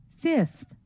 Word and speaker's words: fifth: sound in numbers like 5 and 12 changes to a f sound listen and repeat five fifth twelve twelfth also pay attention to the